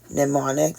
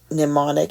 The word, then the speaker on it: mnemonic: Please remember in mnemonic, the M is silent. And that mnemonic is SO, CA, TOA.